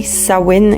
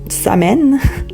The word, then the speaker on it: Samhain: Puis en passant dans les langues géliques, le MH est souvent prononcé comme un W. Donc c'est bien Sain et non Samè.